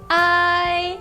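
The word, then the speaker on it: 哀: Então, a palavra tristeza em chinês se escreve assim e se fala ai.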